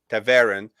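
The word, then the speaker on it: Ta'veren: But then Taveren, you said Tavarin. Taveren is.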